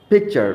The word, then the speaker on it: picture: আমরা জানি কি শব্দের শেষে যদি আর থাকে সেটা উচ্চারণ হবে না।